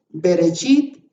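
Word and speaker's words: בראשית: En esas 7 palabras dice Bereshit, Bara, Elohim, Et, que es la palabra que no traduce, et ha-chamayim beet ha-aretz. Así se pronuncia eso en hebreo. Pero se fija usted que la puna, berechit, bara Elohim, son palabra 1, 2, 3.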